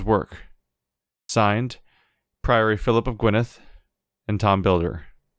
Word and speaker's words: Gwynedd: signed Priory Philip of gwyneth and Tom builder it always throws me off that that's pronounced Gwyneth as our two DS after the reason to play